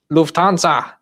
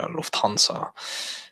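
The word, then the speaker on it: Lufthansa: Lufansa. Shouldn't say it like that. I should say Luansa.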